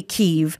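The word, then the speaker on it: Kyiv: own country just pronounce it the way we pronounce it but ukraine say keeve so we say oh i was curious about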